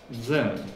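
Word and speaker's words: ζῆν: Дзен. Не пугайтесь, читается как дзен.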